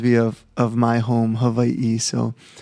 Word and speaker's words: Hawaii: VA e so so the w-a-i is Vai because it's and then